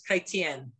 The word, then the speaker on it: Chrétien: It's French. It's Chrétien.